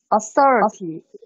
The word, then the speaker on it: authority: Authority. Yes, perfect. 就是 AU 发长元音 O, THOR 发 FOR, THO 发 FOR, 然后 RITY, RITY, Authority. Authority. Authority. 这个是舌头要伸出来的那个辅音，轻辅音 FOR, Authority, OK.